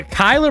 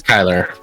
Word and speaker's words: Kyler: yeah I mean it's just like from a Kyler Murray standpoint this is a guy you paid